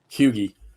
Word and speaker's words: Huger: they were Huger um make sure we say his name properly I couldn't believe it when I learned how it's pronounced Huger hugee hugee hey French Stigler top